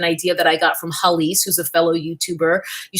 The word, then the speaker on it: Hallease: Now, what I mean by that is, and this is an idea that I got from Halise, who's a fellow YouTuber.